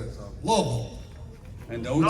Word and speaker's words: Louisville: I was in Louisville, Kentucky last week, and before I was on stage, I had to do a little video. And you said Louisville?